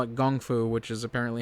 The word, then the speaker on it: kung fu: So much so as several times they call it gung fu, which is apparently how you're supposed to pronounce it.